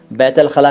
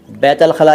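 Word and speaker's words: बैतुल ख़ला: बैतल खला का क्या मतलब है? लैंगफन विद मी साहब, बैतल खला का मतलब है वॉशरूम यानी टॉयलेट। बैतल खला या बैतुल खला दोनों ही वर्ड बोले जाते हैं।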